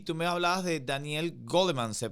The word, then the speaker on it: Goleman: Y mira, y tú me hablabas de Daniel Goleman, se pronuncia así, ¿verdad? Ajá, Goldman, sí, Él es el creador del justamente.